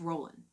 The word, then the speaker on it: Roland: here the Song of Roland now the D is not pronounced in the Song of Roland because it's French okay so it's the Song of Roland okay it reflects the